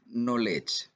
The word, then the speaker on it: knowledge: suara kertas jadi suatu huruf k ini seringkali dia tidak diucapkan apabila letaknya itu sebelum huruf N dan huruf k tersebut merupakan awalan kata seperti kata knowledge mungkin